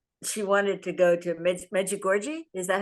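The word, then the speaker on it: Međugorje: One of my friends was she wanted to go to Medjugorje. Is that how you pronounce it? Medjugorje? Yeah, She Medjugorje. was her big desire. How do you say it? Medjugorje.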